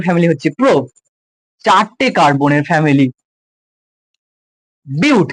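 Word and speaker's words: but: হচ্ছে চারটে কার্বনের ফ্যামিলি বিউট কেউ বাট বলবি না এটাকে বলে বিউট উচ্চারণ এরকম হয় এটার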